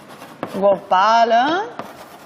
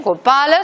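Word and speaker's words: गोपाल: Por ejemplo, Gopala, Samsara, Avatara. Estas sí, en estas acertamos, sea como fuere, pero en esas sí que normalmente se pronuncian adecuadamente, ¿vale? Gopala, Samsara, Avatara. ¿Por qué? Porque la penúltima sílaba tiene una vocal larga, ¿vale?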